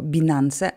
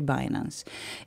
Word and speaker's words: Binance: nazywa Finance po angielsku Myślę że po polsku wymawia się to bilanse ale możecie się trzymać również e tego jak to się wymawia po języku angielskim czyli binance i w Pro to